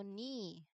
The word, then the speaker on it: knee: So, there is a K N combination at the beginning. And the one we are going to pronounce is letter N only. So, we completely skip the K sound.